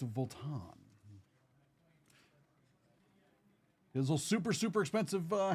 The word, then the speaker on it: Vuitton: It's not Voltton, it's Volan.